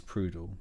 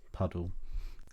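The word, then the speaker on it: Pudel: Despite the title, our main character is not a snail and instead a woman called Grace Prud, pronounced Puddle, a snail obsessive who even views herself, Quail Surprise, as a snail.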